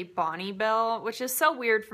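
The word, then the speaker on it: Bonne Bell: Where I'm from, everybody says Bonbell, but I think it's actually Bonnie Bell, which is so weird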